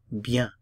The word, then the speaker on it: bien: Notice I'm not pronouncing the end at the word of bien. Bien. Be careful. If you speak Spanish, you say bien. Bien, bien, but this is French and we don't pronounce the N at the end of bien, bien, je vais bien, je vais bien.